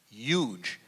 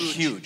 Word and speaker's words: huge: But I believe it's pronounced huge. Huge. Not huge. Huge. Huge. I think it's huge. Huge. As in huge, baby, huge. You know? So it's almost like use as opposed to you.